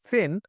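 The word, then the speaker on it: pen: যে আমরা ছোটবেলা থেকে পেন বলে থাকি, পিএন পেনটা বলি, কিন্তু আসলে আসলে উচ্চারণটা হবে ফেন, তারপর হবে ফট, ফ্যাড, ফাইভ, ফ্রে।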